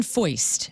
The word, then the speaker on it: Foist: Breaking Benjamin drummer Sean Foist, who his last name is spelled like moist, only it's Foist.